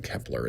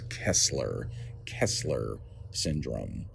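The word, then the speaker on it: Kessler syndrome: like five times now, and I also realize I've been saying it wrong. I've been saying Kepler. It's Kesler Kesler syndrome.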